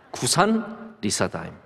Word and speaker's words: 구산 리사다임: 이 발음하기 참 힘들죠 떼어서 발음 하시면 되는데 구산 리 싸다 입니다 이걸 보구 산님이 4 다인 거의 뭐 한국 동네 이름 되잖아요 예 그 잘 띄어서 읽으시는 게 좋습니다 구산 리사 다임 2 9 4 4